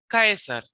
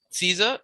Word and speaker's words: Caesar: Kaisar Kaisar. So Caesar in English but Kaisar and therefore the accent is on Kaiser on the first syllable.